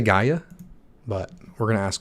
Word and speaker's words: Gaia: if you wish how do you go about pronouncing it it is a word named after a greek god by the way gaia i did i said it right gaia so big shout out to gaia stateful you